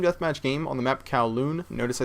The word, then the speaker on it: Kowloon: It's Sam, or xJawz, and today I'm bringing you guys a team deathmatch game on the map Kowloon. Notice I said Kowloon and not Calhoun.